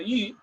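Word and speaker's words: 玉: Bien, el jade, que en chino se pronuncia yu, es considerada una piedra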